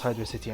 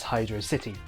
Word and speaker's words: Hydrocity: hydro and velocity but it's clearly the words hydro and city um generally everyone's favorite